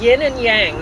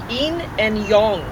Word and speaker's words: yin and yang: I wrote down here that yin and yang that's how I thought that was pronouncing it and it's not it's in and Yong didn't know that so this been very